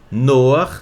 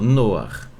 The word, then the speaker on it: Noach: chamada tradução o nome a pronúncia dele é daquele jeito que você tá vendo tá noar tá aqui a transliteração noar Noé hum é uma